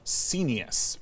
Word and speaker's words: scenius: Used a great word when we were talking before, scenius, rhymes with genius.